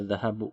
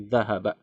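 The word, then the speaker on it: ذهب: Nah, zahaba ini fi'il madi ya, kata kerja lampau. Dia fathah terus fathah semua. Jadi enggak dibaca dahahabu tapi dahazahaba. Ya.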